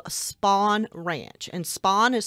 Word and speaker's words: Spahn: This place was called Spahn Ranch, and Spahn is spelled S-P-A-H-N.